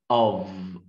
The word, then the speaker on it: of: كلمه قلنا كلمه of، الكلمه الوحيده في اللغه الانجليزيه بننطق فيها حرف الاف، of. Of مولش اوف.